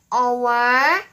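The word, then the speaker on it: hour: An honor, an air, an our, an honest girl. If you listen carefully, H-O-U-R and O-U-R pronounce exactly the same way as our.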